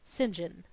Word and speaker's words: St John: plenty of his own his name was Cuthbert St John pronounced singen he had four names